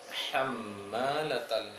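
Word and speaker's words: حَمَّالَةَ: Hammalatal hatab itu ada ha kecil dua, seharusnya kedua-duanya harus sama. Ketika baca hatab tadi, tepat mengucapkan ha-nya, maka seharusnya untuk ha yang sebelumnya juga seperti itu bacanya. Hamma, jangan hamma, tapi hamma.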